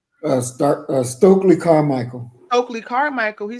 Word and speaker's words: Stokely Carmichael: Carly Stowe Michael. Did I say it right? Stokely Carmichael.